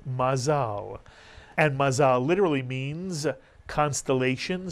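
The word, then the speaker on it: מזל: yto how about this word mazal is correct mazal and Mazza literally means constellation stars it came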